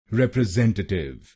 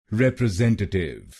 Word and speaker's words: representative: और आपको तीसरे शब्दांश पर यानी SEN पर जोर डालना है। रिप्रेजेंटेटिव, रिप्रेजेंटेटिव। गलत प्रोनाउंसिएशन में हम पहले शब्दांश पर यानी REP पर जोर डालते हैं, रिप्रेजेंटेटिव। तो इस शब्द को रिप्रेजेंटेटिव नहीं बोलिए, इसको बोलिए रिप्रेजेंटेटिव, रिप्रेजेंटेटिव।